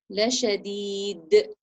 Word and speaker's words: لشديد: So we're going to echo the sound of the dal sukun. La shadid. So hit the makhraj and bounce the sound back.